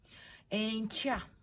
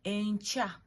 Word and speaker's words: enkya: go ahead and give some examples of 4-letter syllables. The first example is nywa. Nywa, like drinking something. Okay, that is NYWA, nywa. Enkya is the second example. Enkya, ENKYA.